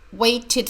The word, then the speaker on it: waited: wait for waited for waited for the Ed sounds like e d she waited for me